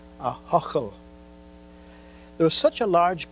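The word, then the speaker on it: Ahoghill: church in the town i don't expect everyone to be able to pronounce that name a-h-o-g-h-i-l a huckle there was such a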